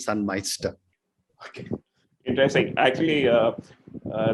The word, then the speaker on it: Sunmeister: uh scandinavian word so the pronunciation in india is it can take a few uh you know uh portugal as such correct we've been even called sun mister and some moisture in the works so yeah okay wonderful